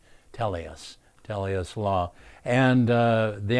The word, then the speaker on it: Telios: Uh, Telus, by the way, is spelled T E L I O S. Tellus, Telus Law.